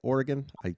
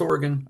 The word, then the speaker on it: Oregon: And did I say it right, Oregon? You did. Yep. Corvallis, Oregon.